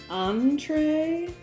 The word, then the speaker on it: Antree: So I think it's pronounced Antree, just obviously spelled differently.